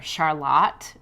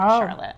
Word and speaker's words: Charlotte: They're out of, now I can say it correctly. I have said it incorrectly before. Charlotte, Vermont. It's not Charlotte.